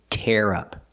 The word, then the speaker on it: tear up: The first phrasal verb is tear up. We use the air sound like hair and chair.